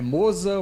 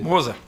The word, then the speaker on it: Mozart: É Moosa, Moosar, como é que você Moza. Moza mesmo. Moza. É, meu avô, infelizmente, já não tá mais aqui para dizer a pronúncia exata, né? Mas é Moza.